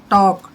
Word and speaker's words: talk: PALM, palm, L silent रहेगा। Palm हथेली, काम शांत रहना। अब जैसे TALK, टाल्क नहीं पढ़ना है, टॉक, टॉक मीन्स बात करना।